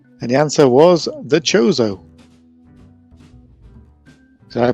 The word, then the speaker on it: Chozo: And the answer was the Chozo. Did I pronounce that right, Johnny, before?